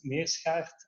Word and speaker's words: Meerschaert: of myself so my name is uh it's pronounced it uh perfectly me asshat I'm a director of triact we are Mobility